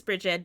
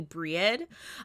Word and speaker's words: Brie: know I'm totally pronouncing what I've been saying is Bridget, but is actually Breed, is how she pronounces her name.